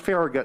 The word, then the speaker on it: Farragut: The first full admiral of the United States Navy was a bilingual, bicultural Latino, David Farragut. Oh, it's pronounced Farragut in D.C.